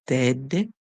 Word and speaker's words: deadly: Okay, so our word here is deadly, deadly. Remember the E and A together, we hear the E make the sound saying the A is silent. So D, ed, and the ly says ly, deadly.